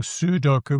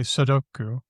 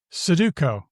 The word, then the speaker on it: Sudoku: Look, that's very English. You know, we we often schwah the unstressed syllables. Instead of saying sudoku, we say sudoku.